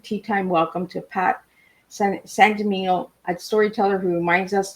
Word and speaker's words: Sangimino: Sangimino. Sangimino.